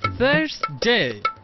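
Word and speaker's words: Thursday: নিয়েও একটি সমস্যা আছে দাঁত এবং জিহ্বার মধ্যবর্তী স্থান থেকে বাতাস বের করে বলতে হবে থার্সডে থার্সডে আন্ডারস্ট্যান্ড আন্ডারস্ট্যান্ড কেমনে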